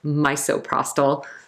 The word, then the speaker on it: misoprostol: if you look at misoprostol, it kind of looks like misoprostol. So when you're pregnant, miso soup is okay, misoprostol is not. And again, it's pronounced misoprostol, but it looks like that miso.